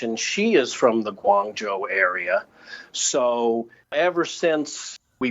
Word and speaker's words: Guangzhou: I feel better now no gong Jiao is the Cantonese and Guang Joo is the Mandarin so I'll try and